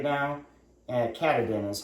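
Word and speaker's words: Katadyn: kind of all the rage right now and cadan is how you pronounce it and uh I've got the the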